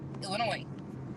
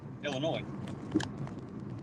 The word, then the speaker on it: Illinois: seems to say Illinois the S is silent Illinois right Illinois you said lawnmower um